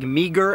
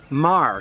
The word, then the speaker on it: Meagher: of the Iron Brigade that looks like Meagher, and it's in fact Marr, Thomas Marr.